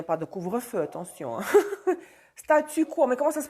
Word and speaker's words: statu quo: de, comment on dit, comment on prononce en français status quo, ça c'est en russe. Statu quo, ça c'est bizarre.